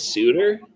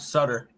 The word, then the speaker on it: Suter: Suter and Sider, not Sutter. I'm talking about Pius Sutter. No relation to Dickens Cider. No, that's Pius Suter. He's Suter, not Sutter.